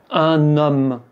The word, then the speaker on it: homme: Et bien, avec les mots qui commencent par “h”, un “h muet”, Un_homme, un_hôtel. Un_hôpital. Vous voyez qu'on fait la liaison.